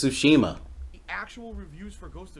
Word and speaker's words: Tsushima: ] the ghost of sushima comes out and i actually feel he can't even say it right it's tsushima the actual reviews for